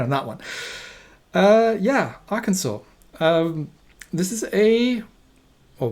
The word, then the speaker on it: Arkansas: now um yes i i know this isn't pronounced arkansas even though that the other place is pronounced